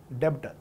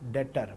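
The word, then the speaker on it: debtor: बेचा, वो कौन बना, पहले तो डेब्टर, हाँ डेटर, ब साइलेंट, तो डेटर बना।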